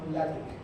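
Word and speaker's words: LaTeX: está construyendo sus proyectos se llama lat el lengu listo lat se escribe látex sí como el material látex así se escribe es un lenguaje para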